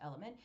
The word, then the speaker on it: LMNT: Salty, just like LMNT is pronounced element.